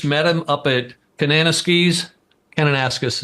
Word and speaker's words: Kananaskis: him up at cananas Canan ascus is actually the way it's pronounced but I like Kananaskis uh Canada at a